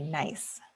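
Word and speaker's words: gneiss: eventually get to a metamorphic rock called a nice and it's pronounced like the word nice even though it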